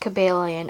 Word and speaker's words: Cobalion: Yes, it's pronounced Cobalion, FYI. My first ever Pokemon card was a Cobalion, and it looked very nice.